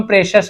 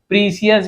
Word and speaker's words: precious: और एंड कीमती रत्नों, कीमती को हम प्रेशस कहते हैं, क्या कहते हैं, प्रेशस। बहुत लोग प्रीसियस भी बोल देंगे, प्रेशस, प्रेशस यानी होता है कीमती, बहुमूल्य।